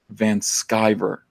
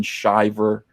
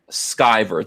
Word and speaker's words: Van Sciver: My name is pronounced Ethan Van Sciver, not Ethan Shiver or Ethan Scriver. I think I was saying Scriver. What is it again? Shiver? Skyver. Think Luke Skywalker.